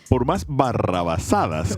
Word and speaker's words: barrabasada: How do you say that word again? Barrabasada. But take it from Barrabás, el tipo que estaba al lado de Jesús.